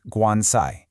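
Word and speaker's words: 棺材: So, in Chinese, the word for coffin is pronounced guansai.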